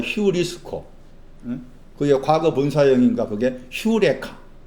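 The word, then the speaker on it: εὕρηκα: 그게 과거 분사형인가 그게 휴레카. 유레카라고 했잖아. 유레카 아니고 휴라고 했잖아.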